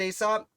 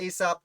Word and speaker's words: Alsop: albany uh john aesop i believe is pronounced aesop looks like aesop like asap's fables i had people comment